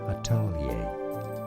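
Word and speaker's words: atelier: how it said in French now in English atali atalia what it's really not that much different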